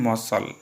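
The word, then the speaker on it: muscle: Next question को जिबा which letter is silent in मसल।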